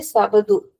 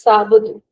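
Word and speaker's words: Sábado: See, it's not exactly Sabadu. It's Sabu. Sabu. Sabu.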